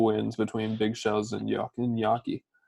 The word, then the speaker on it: gnocchi: between Big Shells and gnocchi. It's gnocchi. It's not that hard to say. All right, Nachi, y'all want to call Fake it? Italian. Fake Italian. Oh, y'all said it wrong.